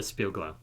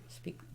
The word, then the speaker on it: Spiegelau: So we should drink this out of a wheat glass, which I have one, or a A Spielglau. Spiegelau.